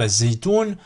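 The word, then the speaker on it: الزيتون: Ici, par exemple, az-zaytoun, avec le lam. Là, par exemple, al-zaytoun, c'est dur. Az-zaytoun, c'est plus fluide et c'est plus simple.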